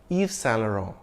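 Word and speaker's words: Yves Saint Laurent: he sued and won if you have trouble with the French pronunciation you can say it the English way Eve sanero or shorten it to its initials YSL but if you want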